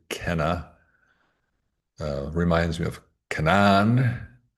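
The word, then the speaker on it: Kainai: Uh, the Canai nation spelled K A I N A I but pronounced actually Kenna.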